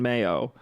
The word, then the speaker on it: Mayo: The name is from Irish Maggio pronunciation Mayo, much like the condiment.